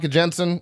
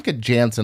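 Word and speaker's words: Janssen: Fa Jensen, or sorry, it's Fa Jansen. I've been saying her name wrong this entire time.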